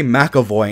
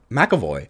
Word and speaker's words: McAvoy: keep wanting to say makavo and I don't know where that comes from maavi maavi M makavo it is McAvoy M aoy makavo it is makoy am I wrong okay